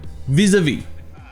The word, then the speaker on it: vis-à-vis: Par contre, ça se prononce pratiquement comme en français, à part que le A se prononce E. Vis-à-vis.